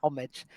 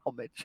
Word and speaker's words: homage: we say we say homage like very not yeah we uh America tends to often follow the French pronunciations okay um but we we just say homage we we anglicize everything